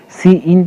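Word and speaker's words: cin: सी इन, जिसको हम लोग इसको सी इन प्रोनाउंस करते हैं।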